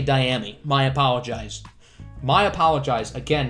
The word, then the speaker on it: Dyami: carolina to the saints i've been pronouncing it diami brown but it's actually dyami my apologize my apologize